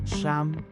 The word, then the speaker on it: siyam: change I to the American letter e and a t a h then pronounce it as sham s a m t